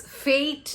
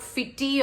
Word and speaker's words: fete: We pronounce this as fate, not fitty or fete.